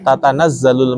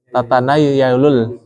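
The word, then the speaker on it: تَنَزَّلُ: Tatanazzalul malaikatu, bacanya apa? Tatanayalul. Kalau waktu itu di sana jelas banget itu. Kok tatanayalul itu? Kita yang pernah dengar, kita paham ini kan agak beda.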